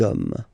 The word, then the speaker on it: hommes: You don't pronounce it, so you get des hommes.